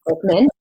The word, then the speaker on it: Glickman: is Andy Glickman Glickman his friends call him glicken I was calling him Glick but it's Glickman want to get the